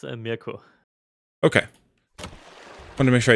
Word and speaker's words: Mirko: It's Mirko.